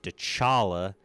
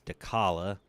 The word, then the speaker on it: Dechala: Also, I apologize for pronouncing her name. Dchala like a dummy. It's Dala.